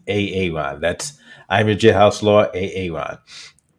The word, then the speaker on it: Aaron: It's pronounced Aaron. You have to pronounce it correctly. It's not Aaron, it's Aaron.